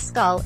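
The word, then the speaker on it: skål: Washington just remember that the proper cheers is scull pronounced as it looks stall corrects Michelin rating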